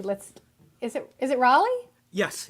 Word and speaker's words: Raleigh: saying it correctly let's is it is it Raleigh yes it's Raleigh okay excellent you've been touring all up and